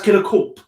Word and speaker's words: KillerKorp: by ben from right is it killer core is it it is class killer corp killer yeah with the pig okay okay because why my first question is always what's in the name so i want to know what is behind the name because i know that is core which you say spelt c-o-r-p-s yeah like corpse like military corps yeah yeah yeah because